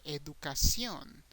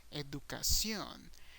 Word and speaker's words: educación: And as you can see, the pronunciation is a little bit different. You have education. The A is the strongest sound, but once again, in Spanish, the O is the strongest sound. Educación. Education, educación.